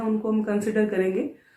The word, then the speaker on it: Chara: Students इसको pronounce कारा करना है, नॉट चारा। कई बार स्टूडेंट्स इसको पढ़ते हैं तो CHARA ये समझ लेते हैं, बट ये कारा है।